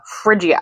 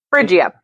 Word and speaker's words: Phrygia: You're gonna have to pronounce that for me. That's okay. Phrygia. Okay. Phrygia.